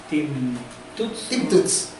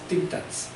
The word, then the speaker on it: Tim Tuts: ahí aparece este detective, Tim Tuts, pero en realidad se pronuncia Tim Tats.